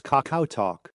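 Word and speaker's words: KakaoTalk: messaging service to communicate it's called Kakao Talk pronounced as Kakao Talk they call it katalk for short one topic kids are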